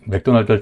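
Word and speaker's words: McDonald's: 이렇게 되는 거죠 그래서이 맥도날드를 다시 와 보면은 맥도날드에서 더 발음은 없는 발음이었고 그리고 발음을 찾아보면 두 번째 음절에 강세가 있습니다 그래서 먹다 은데 발음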